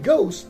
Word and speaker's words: ghost: the edge is silent in ghost h is silent in spaghetti the h